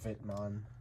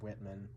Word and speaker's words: Whitman: are on to the vitman uh albums or Whitman I just pronounce it with the German pronunciation um this is the